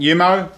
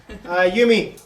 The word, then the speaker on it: Yumi: Yumi. Yumi. Yes, I pronounce it Yumi. It was close. Yeah. With an E, not an O.